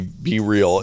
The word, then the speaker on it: BeReal: Well, they do capitalize the B and the R, so it seems like it'd be BeReal.